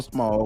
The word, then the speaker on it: Small: He was real worried about me saying the S on Smalls. Where he at? Where you at? Where your name at? I'm saying it right now, Baba Small. You happy now? Baba Small. I ain't say Smalls.